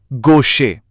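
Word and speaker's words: gauche: यह थोड़ा ट्रिकी है। इसे पढ़ते हैं गोशे।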